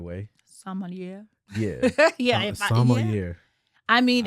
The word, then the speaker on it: sommelier: I'm trying to pronounce it the right way. sommelier.